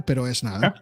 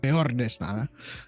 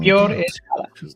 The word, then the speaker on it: Peor es nada: So let's go ahead and watch this trailer, Pero Es Nada. I mean, I'm sorry, Peor es Nada. I'm saying it wrong. I don't know why I say it wrong. Peor es Nada.